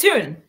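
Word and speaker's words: Toone: play Ella Tony and is it Tony is that how you say it is it tun t tun sorry Tony tun yeah sell tun sell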